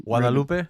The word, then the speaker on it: Guadalupe: Guadalupe? See that? That's the correct pronunciation right there. Guadalupe Brewing. That is how you say it.